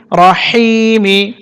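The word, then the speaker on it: الرحيم: হায়াজের হি, টেনে পড়তে হবে, মিমসের মি, রহিমি। রহ এবং রহি, হা একইভাবে উচ্চারণ করতে হবে। তো এখানে যেহেতু বিসমিল্লাহ শেষ, আমরা এখানে ওয়াকফ করব, ওয়াকফ করলে মিম সাকিন হবে, উচ্চারণ হবে রহিম।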